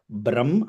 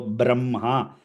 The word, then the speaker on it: ब्रह्म: Wherever the word Brahma comes, it needs to be pronounced as Brahma. Ha sound needs to come in the end. So Brahma.